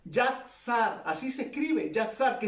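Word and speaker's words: יָצַר: Yatzar, así se escribe, Yatzar, que significa moldear, significa formar.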